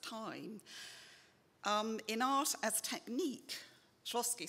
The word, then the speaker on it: Shklovsky: I will tell them about Shklovsky, that's how I pronounce it, the Russian formalist.